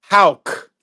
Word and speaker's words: Houck: It's as if it was spelled Houk. It's Houck.